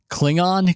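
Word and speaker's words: Clingan: he had that clip I pronounce it like Star Trek maze says cling it there we go I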